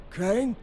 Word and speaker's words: Crane: no my name's crane crane crane rhymes with train and brain and S and Grain and rain and plane and the other kind of plane and and but can